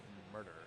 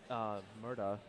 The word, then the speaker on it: WA Murda: It looks like we might have Ergi's Bunch versus WA Murder, or Murda. Sorry, it's with an A there. I gotta make sure I pronounce it correctly.